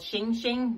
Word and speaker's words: Xing: So on Amazon, this company is called Xing, but it's spelled X-I-N-G.